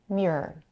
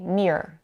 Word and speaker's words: mirror: on write it on notice that she says the word mirror with the very pronounce r in the middle which is the very proper pronunciation of this word mirror many people however would say mirror dropping the middle R do you hear the